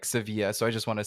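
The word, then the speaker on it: Sevilla: for for the listeners us Anglo speakers have called it sevil uh but the right way to say it according to the Spanish is more like seevilla so I just want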